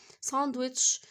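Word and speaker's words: sandwich: او عاده بيكون معايا سندوتش للغداء يبقى اي يوجولي ايهاب عصام يوجولي تش طبعا حرف الدي مش هانطقه عشان بين حرفين طيب اخر جمله معي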